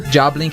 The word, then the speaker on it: Jawblink: Job Link is spelled JAWBLINK. Just think of a shark.